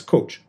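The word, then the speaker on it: Kocs: town in Northwest Hungary K CS pronounced as coach the location was rowned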